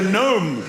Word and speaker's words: gnome: And the gnome will be the symbol of silent letter death.